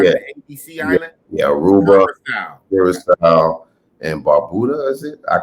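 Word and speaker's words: Curaçao: the same level of, I never can say it right, Caraco, the island of Caraco. I don't know if I'm saying it right. Curacao. Damn, I got it all the way wrong.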